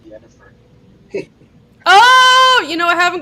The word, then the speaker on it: Yennefer: Isn't it pronounced Jennifer? It's Yennefer. It's Yennefer. It's like some weird Polish version of the name.